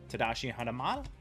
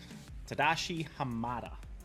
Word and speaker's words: Tadashi Hamada: Litwack, Hercules, Jumbo Pop, Gopher, Honey Lemon, John Darling, Goofy, Tadashi Hanamada, or however you say it, and Yago. Tadashi Hamada. That's how you say his name.